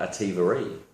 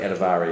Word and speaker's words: Adevara: Sometimes some people call her Adevara, but I think Adevara is the right way to pronounce her name.